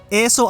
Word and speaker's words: Esso: Esso ang brand na ginamit ng Standard Oil of New Jersey noon para i-market ang kanilang mga produkto. Nanggaling ito sa pronunciation ng initials ng Standard Oil na S.O.